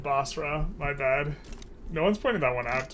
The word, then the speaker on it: Basra: be okay just realized General mispronounced uh Basra is basara all the time oh man I just can't read is actually the thing there's no extra a in there in bosra my bad no one's